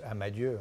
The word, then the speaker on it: Amadieu: absolument remarquable grand classique d'amadeus amadieu c'est la façon locale de prononcer à manaus a bah